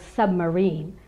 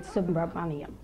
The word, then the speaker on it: Subramaniam: pronouncing my name accurately I have been called submarine and you did a great job of pronouncing it subra I just want to